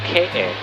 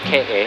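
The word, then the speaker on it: Keʻe: this one it's called k-a it's spelled k-e-e but it's pronounced k-a and that's where the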